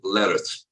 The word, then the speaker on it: Larratt: Yeah, I asked Devon how to pronounce his last name. He said, and the same as like carrots, you know, vegetable carrot. He said Larratt.